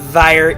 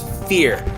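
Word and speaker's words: Vier: this card is pronounced it's not fire it's fear I'm spy did I did I write here fear it's German for four so this is confirmed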